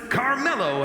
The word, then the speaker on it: Carmelo: SmackDown chooses Carmelo Hayes. The GM didn't miss because they Definitely picked up pronounced Mello. Carmelo.